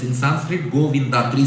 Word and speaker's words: Govinda: Bhagavan's name Goinda. It has three syllables in Sanskrit. Goinda three syllables in English spelling different spelling different.